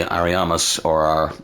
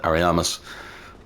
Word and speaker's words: Ariamis: Obviously painted by Ariamis, I think that's how it's said, Ariamis, to house things, including Priscilla, or the Abomination, as they say.